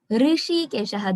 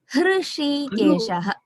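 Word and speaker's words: हृषीकेश: I am hearing it like Rishi Keshaha, that Rishihi. We say Rishi. I said Rishihi. Rishikesha. That Ri is not it is not the correct pronunciation. Hr. Hrishikeshaha.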